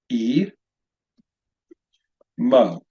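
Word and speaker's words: עמו: Third line, 2-syllable word, pronounced E. Mo. Notice here, this is one of 2 silent letters in Hebrew.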